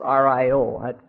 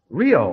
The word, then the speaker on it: Rio: Well, it's Rio. Rio, I would call it. Yeah, that's that's the major grievance we have with everybody out of Rio.